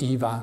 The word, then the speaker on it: eva: This particle va in Pali, in Prakrit, is eva, 2 syllables, like.